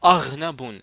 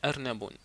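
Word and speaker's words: أرنب: Ernabun, attention, ne prononcez pas Arnabun. Le R, comme ça, Raoun. Donc, il faut prononcer R, comme ça, Ernabun.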